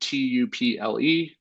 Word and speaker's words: tuple: So if you see that word tuple, that is some people pronounce it tuple. I like to call it tuple, but that is going to be very similar to an array.